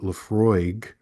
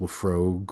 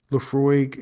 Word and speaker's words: Laphroaig: And they had no idea what you're talking about or they think that it needs to be pronounced Laphrogue or Islay instead of Islay, whatever.